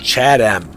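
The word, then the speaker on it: Chatham: So in case you want to confuse it with Chatam in Kent, this station name is pronounced Chadam.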